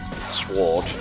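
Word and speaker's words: sword: the old-fashioned way yeah we don't really emphasize the w in sward these days maybe we should maybe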